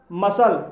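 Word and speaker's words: muscle: मसल, मसल शब्द के अंत में एस सी एल ई आया है इसलिए इसमें सी साइलेंट रहेगा, इसलिए इसे मसल पढ़ा जाएगा और मसल मिस होता है मांसपेशियां।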